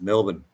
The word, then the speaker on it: Melbourne: they pronounce Melbourne yeah it's Melbourne Melbourne no it's not born there's no born idty here he's all right